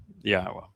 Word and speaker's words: Yahweh: He happens to be the fellow that reintroduced Yahweh's name and proved that it is pronounced Yahweh.